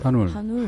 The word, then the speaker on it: 한울: 아, 그러니까 한과 큰 공간이라는 게 울을 합치면 한번 발음을 해보세요. 한울, 한울. 하늘, 그게 나오잖아요. 한울.